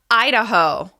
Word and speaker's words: Idaho: Next up, Idaho. Idaho. This state is stressed on the first syllable.